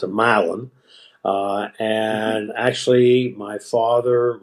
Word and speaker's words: Milan: town uh in Tennessee mil Tennessee you would pronounce it Milan but in Tennessee they pronounce it milin uh and actually my father when I was